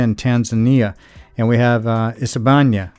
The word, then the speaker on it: Isebania: And we have Isebania. Now Isebania, it's ISI for the first three letters. You might see in videos it's ISE, same pronunciation.